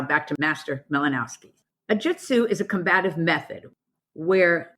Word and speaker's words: Jutsu: Urban ha goju now Jutsu means method the common mispronunciation of Jitsu actually means truth okay so I'm not